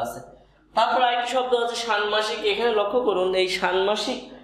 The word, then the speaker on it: ষান্মাসিক: তাহলে ষান্মাসিক, এই যে শান ও শান, ময়কারে মা, শানমা, শানমা, এই ময়কারে মা, শানমা, এই শয়সী শিকশিক, ষান্মাসিক।